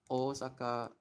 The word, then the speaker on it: Osaka: you who don't know how to pronounce Osaka properly it's actually I'm going to say it really slowly it's uh kanji wise it's like this Osaka uh oa. So technically it has two O's but when you romanize